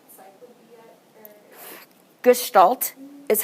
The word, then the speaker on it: Gestalt: Gestalt is how you pronounce it.